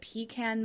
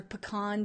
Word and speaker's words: pecan: milk they also have a really good pecan milk or pecan depending on how you want to pronounce it the ingredients are super